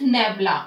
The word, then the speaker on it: nabla: back what if nabla how we pronounce it it is nebula or inverted Delta nebula